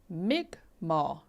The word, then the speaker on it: Mi'kmaq: Maiden's World of Wax said that's pronounced Mi'kmaq.